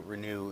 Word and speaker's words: Renu: Renew is spelled re neu like uh renewal of the mind.